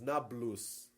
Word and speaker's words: Nablus: today call it Nablus because Arabs can't pronounce the PE sound thus neop becomes Nablus if you want to